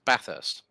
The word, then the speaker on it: Bathurst: those if you say Bathurst no no no because I got corrected about that a few years ago they went no it's Bathurst yes there's no bars there my friend it's hot